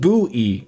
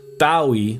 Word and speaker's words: Bowie: In this case, Bowie in Aen Bowie is pronounced buoy Jordan, not Bowie like David Bowie, right?